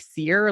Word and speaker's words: Cere: this former Jedi named seer and her name is spelled c e ar e but it's pronounced like seer like like I'm a seer of the truth um